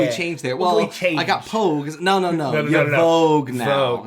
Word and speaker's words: Pogue: Mark Hanlon and John Pogue. That's a name. It's spelled like Vogue, but with a P. Oh, John Pogue.